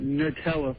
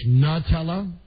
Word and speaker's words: Nutella: Like N-U-H, Nutella? Sort of along that line, yeah. Well, then wait a minute. Then is it new or nuh?